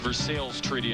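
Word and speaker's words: Versailles Treaty: Versa treaty wins it that's pronounced versales treaty in Kentucky earned over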